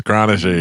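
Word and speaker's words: Chronister: And they couldn't pronounce Kronister. They're like, I go, "It's Kronister. You should probably learn how to say it first, you dumb asses."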